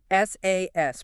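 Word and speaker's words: SaaS: SAS, pronounced SAS, right?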